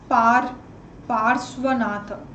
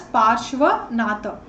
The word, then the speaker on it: Parshvanatha: Tirthankara is known as Parsvanatha. Again, the spelling might vary from textbook to textbook, but he's basically pronounced as Parshvanatha.